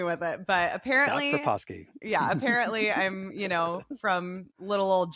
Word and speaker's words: Proposki: I literally wrote down the pronunciation. I was like, all right, Scott, help me with it. But Scott apparently, Proposki.